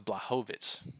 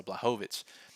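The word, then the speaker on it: Błachowicz: adasanya and costa and also it's blahovich make sure i get his name right i've been working on my pronunciations in these videos so blahovich and two very different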